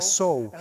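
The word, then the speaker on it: sow: es solo una palabra, hay una palabra que se escribe exactamente igual y que significa una cerda, es decir, una hembra de cerdo. De eso no estamos hablando. Se pronuncia sou y lo que significa es plantar algo para una cosecha futura.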